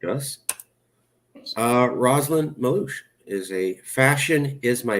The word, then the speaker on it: Meluish: Sorry, it's pronounced Mellish. No, I'm just going to go with Rosalind. My dog corrected you. Thank you. Rosalind, and I am not qualified to pronounce last names today. No, it confuses everybody because it's the stupid U.